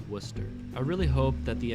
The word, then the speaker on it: Worcester: behind some trash cars notice how I pronounced it Worcester I really hoped that